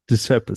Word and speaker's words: Deprecipice: So you pronounce it Deprecipice. Deprecipice. So yeah, it's not as bad as it looks.